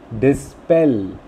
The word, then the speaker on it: dispel: Dispel, again per is stressed.